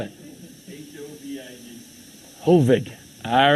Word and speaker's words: Hovig: How do you spell it? H-O-V-I-G. Hovig. All right, Kovig. Oh, Hovig.